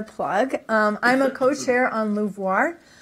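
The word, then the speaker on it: LUVOIR: I'm a co-chair on Louvoir. Louvoir is not a French word. Do not pronounce it Louvoir.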